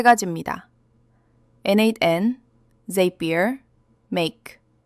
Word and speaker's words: n8n: NateN, they bear, make.